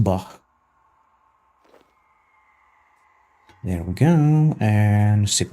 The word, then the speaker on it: Bach: Even though his name is pronounced Bach.